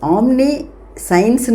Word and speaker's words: omniscience: சயின்ஸ்னா என்ன அறிவு ஓகேயா அப்போ ஆம்னி சயின்ஸ்ன்னு சொல்லக்கூடாது இது சயின்ஸ்ங்கிறது ஒரு தனி வார்த்தை இது ஆம்னி ஆம்னிங்கிறது ஒரு வார்த்தை அப்ப இது ரெண்டையும் சேர்த்து சொல்லும்போது நம்ம எப்படி உச்சரிக்கணும்னா ஆம்னிசியன்ஸ் ஆம்னிசியன்ஸ் சோ the world of